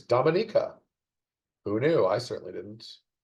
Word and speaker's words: Dominica: Another fun pronunciation one. I always thought it was Dominica, the small island nation. No, it's Dominica.